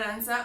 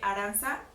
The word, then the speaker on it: Arantxa: En Instagram estoy como Dear Aranza o D-E-A-R Aranza, A-R-A-N-T-X-A, igual en Twitter. Perfecto. Qué diferente se escribe Aranza, ¿no? Sí, TX. TX.